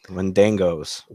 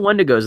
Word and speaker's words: Wendigo: Wendangos. Wendigos. I think they pronounce it Wendigos in the.